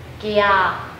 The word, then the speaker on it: 갸: Write out the pronunciation like this we read this as ky-a Loudly and slowly we wil read as follows: 갸 (kya) Gradually read faster each time for 5 times and we will get the right pronunciation for this word Let's read again 갸